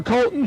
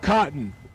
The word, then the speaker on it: Colton: 589 for Colton Short, right side, not Cotton. Cotton came upstairs and told me that I'd been mispronouncing his name, but he also did